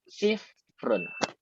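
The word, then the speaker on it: صفر: Huruf fa-nya berada di tengah. Diberikan sukun di atasnya, dibacanya sifrun.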